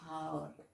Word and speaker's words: hour: when we read okay h is silent here and we pronounce it our we don't pronounce it however we pronounce it hour so and hour we